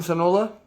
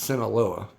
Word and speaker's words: Sinaloa: to read though cuellicon sonola or sinaloa i'm sorry i know it's sinaloa i'm pretty sure i'm pronouncing that correctly uh yeah i'm done